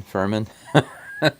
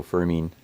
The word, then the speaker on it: Fermin: Every time I see his name, I think Furman. But it's pronounced mean, so Fermin.